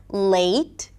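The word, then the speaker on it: late: Or a little 'y' sound for the 'ei' as in day. Like 'la(y)te' or 'pa(y)tience', and not 'patience', 'pa(y)tience'.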